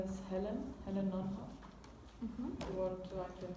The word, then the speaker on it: Nonhoff: My name is Helen Nonhoff. You want to I can spell it?